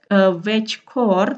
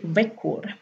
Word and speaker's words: veckor: Tulisannya veckor, tapi dibacanya veckor, ya, veckor.